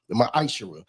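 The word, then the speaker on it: מעשר: The book of Malachi 3:8-10 means t 10th means 10th in Hebrew and it's pronounced misher 10% of every penny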